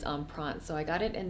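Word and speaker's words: Empreinte: Matisse and I believe the way that you pronounce this type of leather is on prawns so I got it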